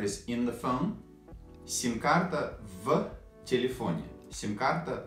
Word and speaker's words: в: Actually, we pronounce it like F sound. F. We don't pronounce it like V sound, but F. In everyday speech, like F.